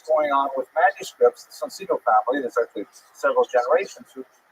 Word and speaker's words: Soncino: early printers were the Soncino family. I will probably pronounce it Soncino because I was born in North America, but it is in situ it would be pronounced Soncino.